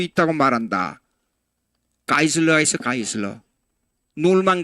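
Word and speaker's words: Geisler: 이거 독일식 발음으로 요거는 I로 발음합니다. 요거요. I로 발음합니다. 놀만 가이슬러.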